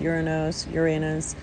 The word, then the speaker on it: Uranus: Now, this full moon is not squaring off with Uranus. Same planet, different pronunciations, they're both correct.